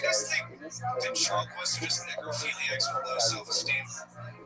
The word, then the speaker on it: necrophilia: It sounded like a hard G. And if you say necrophilia with a G, like from John Hayes, that turns into, you say it?